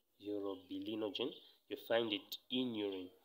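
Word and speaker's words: urobilinogen: you find um that there is urobilenogen europe be lino gene so you need to pronounce this one as well euro bilinogen you find it in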